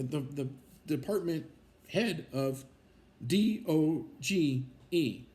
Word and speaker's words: DOGE: the department head of d o g e right but they don't call it Dodge or whatever it's called Doge right the the E is is silent so so Doge uh that's backwards for